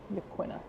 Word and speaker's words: Yaquina: isolated community at Yaquina Head.